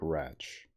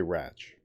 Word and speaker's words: Rache: Oh, the pronunciation of the word sounds like Ratch. Okay, Ratch. R-A-C-H-E, but it's German.